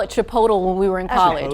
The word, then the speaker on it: Chipotle: All right, so the correct pronunciation is Chipotle.